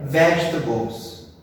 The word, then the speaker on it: vegetables: Então, como que é a pronúncia dessa palavra? É vegetable ou é vegetables?